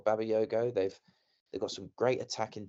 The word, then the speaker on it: Bakayoko: I think PSV, with the players they've got, they've got Bakayoko, I believe it's pronounced, or Babayoko.